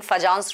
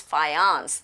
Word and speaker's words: Fajans: Indians we keep saying fajans rule for John's rule it's not fajan it's Phi ounce J is silent fiance rule okay yes